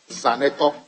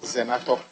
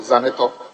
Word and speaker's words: Zaneto: Zaneto, not Zenato, Zaneto. I hear the Deputy Majority Leader always say Zenato. So whilst he's here, I'm just trying to say that it's Zaneto. So pronounce properly, Zaneto.